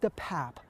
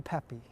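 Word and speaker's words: DePape: district attorney says the suspect's name is actually pronounced David the pap not the Pepe at the time that the suspect Mr depap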